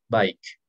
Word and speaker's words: bike: Bike. ¿Qué es? Bicicleta. La bicicleta. Se pronuncia bike. Bike. No bike. Bike, ya saben quién es. Bike. Al final tienen que hacer sonar la K.